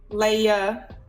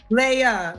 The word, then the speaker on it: Leia: your name again oh how do you say your name Leia Leia Leia Leia like that sound Le head okay Ain